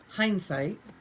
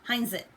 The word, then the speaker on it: Hindsight: this one is by hindsight I'm glad she said it I always pronounce it incorrectly and call it Hines it so it's birds and